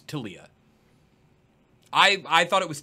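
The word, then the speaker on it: Taliyah: but uh I need to know the correct pronunciation for tiia it's tiia I I thought it was Talia during uh development debed that a lot as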